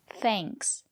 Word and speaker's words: thanks: But if the letter A is before ng or nk, we pronounce it as the long A, like in plane. For example, thanks.